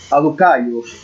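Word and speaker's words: Σαδδουκαῖοι: Los saduceos, que son también religiosos de esa época, en el griego se pronuncia, bueno, vamos a pronunciar de esta forma, ¿no? Aducaios, que significa partidarios de la justicia.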